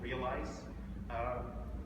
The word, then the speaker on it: Realeyes: started another company called Realeyes. That's how it's spelled, so it's real eyes, like real human eyes.